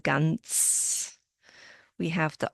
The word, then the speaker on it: ganz: We have the Z sound at the end, ganz.